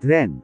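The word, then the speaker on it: Wren: are you all right Ren silent w Ren lang talaga yan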